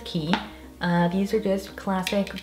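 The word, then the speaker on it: Quay: of blue light glasses these ones are from key that's how you pronounce them i believe i used to say way but i think it's key uh these are just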